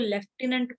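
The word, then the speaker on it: lieutenant: हुआ, द लेफ्टिनेंट governor, इसको देखो स्पेलिंग ये है, इसको लेफ्टिनेंट पढ़ा जाता है, लेफ्टिनेंट गवर्नर, तो हम लेफ्टिनेंट बोलते हैं। लेफ्टिनेंट बोलते हैं, ठीक है। स्पेलिंग इसमें एफ तो कहीं है नहीं, ये देखो ये लिखा लेफ्टिनेंट, ठीक है, तो इसको लेफ्टिनेंट बोला जाता है, बट इसकी स्पेलिंग ये होती है।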